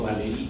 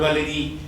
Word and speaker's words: Valéry: Como ven, mi apellido es francés y yo lo pronuncio en español, yo digo, entonces por esa razón digo Valéry también, que es como habitualmente en el oído de mi generación el nombre se daba.